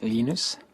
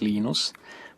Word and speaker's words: Linus: I speak Swedish it's Linus when I speak Finnish it's Linus when I speak English it's Linus and I really don't